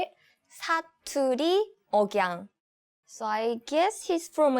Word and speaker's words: 사투리 억양: 아, 사투리 억양. Oh, okay. How do you say it? 사투리 억양.